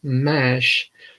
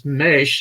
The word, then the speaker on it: Maisch: Well, and then of course when I saw color Maisch, of course I was pronouncing it wrong and thought it as mash. Mm-hmm. And I heard another interview, and it was Maisch, and so I'm thinking, okay, this has got to be made up.